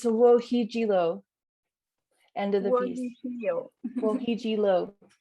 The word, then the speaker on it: Wochiigii: Could you pronounce it for me, please? Yeah, it's WOCHIIGII, End of the Peace.